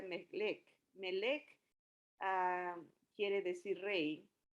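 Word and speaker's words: מלך: Pero rey vimos la semana pasada que en hebreo quiere decir, viene de una palabra que se pronuncia melech.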